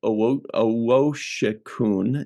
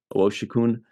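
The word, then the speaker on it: Owosekun: Owoshikun is how they pronounce it. Owoshikun.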